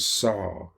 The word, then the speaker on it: Sa: It's Hum So, or Hum Sa, or Hong, like in Hong Kong, and Sa, S-A-U, like in, it's pronounced, like a cross-cut saw.